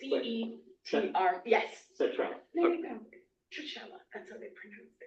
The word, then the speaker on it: Cetrella: Citrella. There you go. Citrella, that's how they pronounce it.